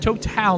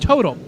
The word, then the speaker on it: Total: That's right, it's pronounced Total, not Total.